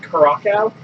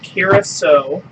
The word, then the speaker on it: Curaçao: I always called it Curaçao, or Curaçao. It looks like Curaçao. But it's actually pronounced Curaçao.